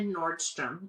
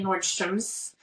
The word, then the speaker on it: Nordstrom: Whitney props on this she actually said Nordstrom most people say Nordstroms proud of Whitney for saying it correctly um so anyway she